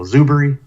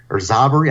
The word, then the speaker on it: Zuberi: You know, they go Zuberi or Zoberi. I've heard that. I'm like, there's no O there.